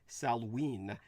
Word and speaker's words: Samhain: By the way, the Celtic pronunciation would be Salween, even though the spelling is completely different.